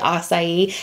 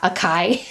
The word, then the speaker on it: açaí: right way like açaí took a really long time to say acai and not a chi so Moschino i would